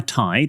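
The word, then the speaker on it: taid: My tide, which is grandfather in Welsh, pronounced tide, I know, because Artie's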